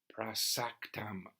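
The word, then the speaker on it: प्रसक्तम्: Prasaktam. First syllable pra, short, then saktam.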